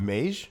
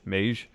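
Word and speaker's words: Meij: regime in charge not just Herald how you pronounce his last name Mei J Herald Maish Maish has a new president but also others that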